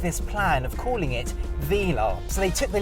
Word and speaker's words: Velar: So what we've got here is a 1969 Velar, and I say Velar because that is the correct way to pronounce the name.